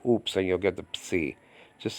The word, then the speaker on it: psi: So just say psi, psi. Just practice oops a lot. Oops, and you'll get the psi.